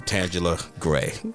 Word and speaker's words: Tanguler: I should have never said anything to you Tangela gray I think I got it right you're right